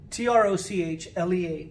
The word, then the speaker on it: trochlea: of thread the latin term for that is trochlea it's spelled t-r-o-c-h-e-l-e-a t-r-o-c-h-l-e-a but it's pronounced trochlea it looks like trochlea but it's